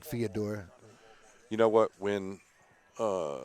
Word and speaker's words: Fedor: correction on on theodore it's theodore not fedor or fedor it's theodore thank you that's his name that's the way he'll pronounce it to you fedor the american version